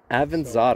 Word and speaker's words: Avanzato: Avanzato. So if you think of avocado. It's an avocado. Okay. It's a little avocado.